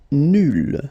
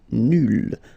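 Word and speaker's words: nulle: Nul will become nul. So phonetically it's the same, but then you double the L and you put at the end. Okay, so nul and then nul. Phonetically it is the same thing.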